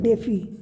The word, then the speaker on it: DeFi: देखिए ये जो इसमें डिसेंट्रलाइज्ड फाइनेंस है, मतलब डेफी है, शार्ट में इसको प्रोनाउंस करते हैं, ठीक है।